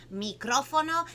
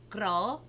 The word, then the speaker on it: Micrófono: Micrófono. That's like 4 syllables. So let's do it a little bit slow. That's a lot. And you have to kind of roll the R's too.